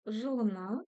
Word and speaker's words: Жылына: Жылына. Жылына. Буква У читается очень коротко.